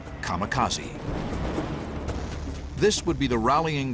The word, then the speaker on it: kamikaze: They called it divine wind, which in Japanese is pronounced kamikaze.